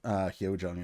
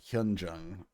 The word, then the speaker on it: Hyunjung: Also, I keep calling her Hyojung. It's Hyunjung.